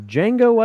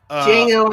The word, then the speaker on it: Django: Okay, this next one, Django Unchained, because the D is silent, up against Mad Max. Not 1980s Mad Max, but Mad Fury Max Road. with one-armed Charlize Theron. Django Unchained. Django, totally.